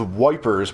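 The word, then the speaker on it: Ypres: last like chapter okay dobbed wipers by British troops due to its difficult pronunciation the yeah that's [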